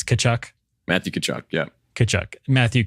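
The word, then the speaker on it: Tkachuk: to get Matthew kachuck the t is silent right it's kachuck Matthew kachuck yeah kachuck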